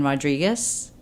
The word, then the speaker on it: Rodrigues: And then Rodrigues, and I always say R-I-G-U-E-S as in Sam. So it's not confused with a Z at the end.